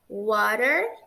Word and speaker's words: water: Reparem que nessa palavra aqui, o T tem som de R, porque está entre duas vogais.